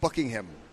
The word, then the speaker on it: Buckingham: uh but I guess the way we pronounce Buckingham Palace is not it's bucking him so we don't want to emphasize the ham on bucking it's bucking him we had too much ham huh yeah we a